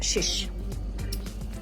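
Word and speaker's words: şiş: And skewered chicken is S-I-S, but the S has a little squiggly line under it, so you pronounce it like an esh. So it's tavuk shish.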